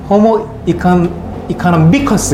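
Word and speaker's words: homo economicus: 호모 이코노미커스 이렇게 호모 이코노미커스 이렇게 읽어요. 액센트가 이상해가지고 잘 안 들려요.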